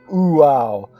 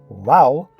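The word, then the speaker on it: Waw: and actually pronounce it Uau, although if transliterated correctly as Wow, one achieves the correct pronunciation.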